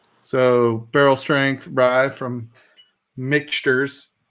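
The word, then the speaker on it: Michter's: barrel strength rye from mixtures depending on who you are or mixtures if you want to say it right is it a 21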